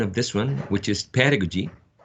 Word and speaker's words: pedagogy: you will have a an idea about the pronunciation of this one which is pedagogy pedagogy pedagogy and seven two pedagogical pedagogical there are